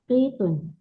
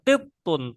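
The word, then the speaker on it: قطّ: La hadza qitun hadza qittun thnya bertasydid qittun namam h qittun naam ya hadza qittun i yang keenam rakam sitah ahadun naam ahadun naam Hm.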